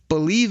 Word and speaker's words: Bleav: You can also find my other Lions podcast called Believe in Lions. That's spelled BLEAV in Lions on the Believe Podcasting Network, dropping every Thursday morning as well.